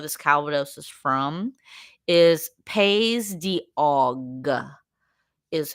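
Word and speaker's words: Pays d'Auge: specific region where this Calvados is from is paog is how is pronounced paog um and it's paay p a y s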